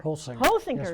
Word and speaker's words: Holsinger: Holsinger Yes, is the way to pronounce it.